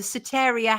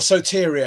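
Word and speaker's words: Soteria: The Sataria houses. Is that how you pronounce it? Yes. Or Sotyia houses.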